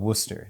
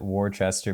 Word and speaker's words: Worcester: a rorchester uh the actual town is called worcester that's how you pronounce it in real life but i i always called it warchester before i got there so that's what i